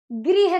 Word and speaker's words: गृह: ग्रह मतलब प्लेनेट होता है, तो क्या सही उच्चारण होगा, गृह कार्य।